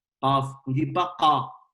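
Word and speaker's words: قاف: Qaf, une seule lettre, qui s'appelle Qaf. D'ailleurs, ça s'écrit comme une lettre, mais ça se prononce, la prononciation Qaf. Qaf.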